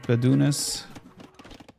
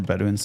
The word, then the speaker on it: Bedouins: I think for Bedunes, or Bedouins if you want to pronounce it correctly.